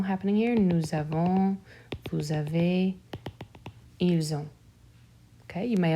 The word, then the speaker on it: avez: Avez, the Z is also silent.